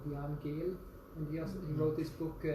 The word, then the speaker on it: Jan Gehl: It's called Jan Gehl. How do you spell it? It's G-A-N, Jan, and then Gehl. Jan is J-A-N, and then Gehl is G-E-H-L.